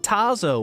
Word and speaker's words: Tazo: t Taco Tazo Tazo I would pronounce it Tazo with no R uh Noire I appreciate